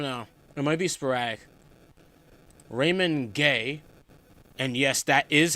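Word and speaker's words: Raymond Guay: Raymond Gay. And yes, that is how you say his name. The commentary or At least that's how commentary says it. Unless commentary is wrong, but Raymond Gay, that's how you say it.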